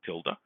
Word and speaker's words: tilde: said x is distributed as that's how you pronounce this squiggle tilde x is distributed as a binomial distribution and